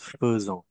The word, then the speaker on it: faisant: l m on sécrit faisant mais on prononce faant fa ouions un dans